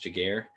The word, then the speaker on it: Giguere: again my name is giguere it's pronounced jager and i'm the ceo